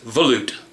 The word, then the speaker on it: volute: But if you guys ever wonder how to pronounce that, yes, it is volute.